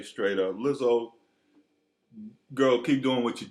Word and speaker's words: Lizzo: This hot singer Lizzo. Am I pronouncing it right? Yes, Lizzo.